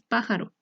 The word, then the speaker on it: pájaro: Como ejemplo tenemos pájaro. Esta palabra está compuesta por tres sílabas, pa, ja, ro, y su sílaba tónica está en pa, porque es la que mayor sonido tiene.